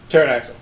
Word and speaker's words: pterodactyl: not two races tyronis pterodactyl thank you yes it's the silent p it hides from me